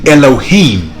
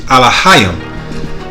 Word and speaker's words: Elohim: Now they say Elohim, but the pronunciation in the Paleo Hebrew or phonetic Hebrew is Alahayim.